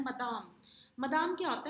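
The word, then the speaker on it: Madame: ये जो MME लिखा है इसको आपने प्रोनाउंस करना है मदाम।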